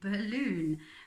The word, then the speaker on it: balloon: For example, like balloon is a little bit tricky because it's got doubles, and we don't say balala or on. We say balloon.